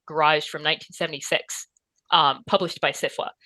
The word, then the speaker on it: SFWA: So I'm alumnus of the Odyssey Writing Workshop, and then I'm a member of SIFWA, is how they say it. So SIFWA?